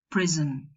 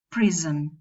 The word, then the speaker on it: prison: We say cotton, button, sudden, person, prison. Some people make the nasal syllabic, and some people pronounce a vowel before the nasal. They don't make it syllabic. So you'll probably hear prison with a schwa, or person with